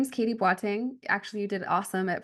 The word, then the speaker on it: Boateng: in there right so my name is Katie batting actually you did awesome at pronouncing my last name so that was that